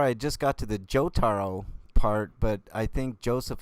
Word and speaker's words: Jotaro: about on the show not joe taro jotaro oh well i don't know man i haven't seen the series man don't that's how it's pronounced damn it man semantics